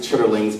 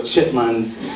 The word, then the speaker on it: chitterlings: And she served, they pronounce it chitterlings, but I'm from North Carolina, so chitlins and pig feet and beer to everybody else.